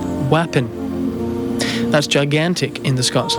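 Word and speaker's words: wappin: word today to say gigantic in Scots it's wapon spelled w a p p i n wapon that's gigantic in the Scots language and in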